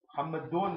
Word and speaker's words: Muhammadun: Muhammadun is what's proper. Muhammad. Yani Mah, that means you're stopping on the last syllable, and it's correct. But what's most proper? Muhammadun. Muhammadun Rasulullah. Muhammadun. So that's the full pronunciation.